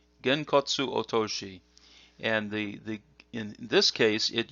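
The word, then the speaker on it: 拳骨落とし: So the first one here is pronounced Genkotsu Otoshi. Genkotsu Otoshi.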